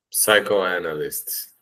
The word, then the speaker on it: psychoanalyst: Psychoanalyst. Dude, perfect. Psychoanalyst. That's it. Yes. You don't say the P, right?